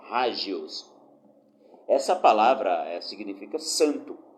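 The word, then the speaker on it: ἅγιος: O adjetivo grego hagios, algumas pessoas pronunciam agios, mas no grego o H tem som de R e o G tem som de G, então é hagios.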